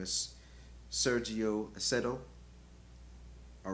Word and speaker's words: Acedo: name um I believe the name is Sergio aceto all right and I'll spell it is s e r g i o